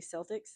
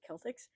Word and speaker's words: Celtics: I always correct people when they say Celtics. I know that there's a Celtics team, but I say Celtics. Get it right. That's how you say it.